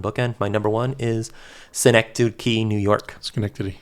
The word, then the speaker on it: Schenectady: My number one is Schenectady, New York. Schenectady, yeah. I never know how to say it. Cynic douche. Yeah, exactly. Cynic douche, New York.